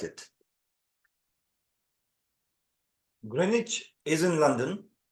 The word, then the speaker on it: Greenwich: interested in visiting Grenich and yes it is pronounced Grenich not green witch I learned it on YouTube and I hope